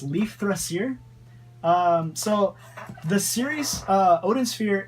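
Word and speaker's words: Leifþrasir: Let's see, it's Leaf, then there's this weird symbol, Rasir, and I think that symbol is pronounced with like the TH, so I think it's Leaf Thrasier.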